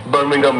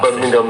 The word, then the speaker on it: Birmingham: Birmingham, yeah. Birmingham, yeah. Both of them. Not Birmingham, Birmingham. Yeah. Birmingham, you have to say with the correct pronunciation.